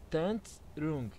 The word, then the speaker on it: Thần Trùng: É um pouquinho difícil a pronúncia do jogo, ele chama Tantrum. Tantrum, é assim que se pronuncia.